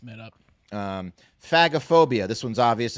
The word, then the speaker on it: phagophobia: It was a coin toss, and Phagophobia.